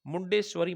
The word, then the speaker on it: मुंडेश्वरी: पहला म मंदिर था मुंडेश्वरी मंदिर ठीक है सही उच्चारण इसका मुंडेश्वरी मंदिर बिहार में पूछा जा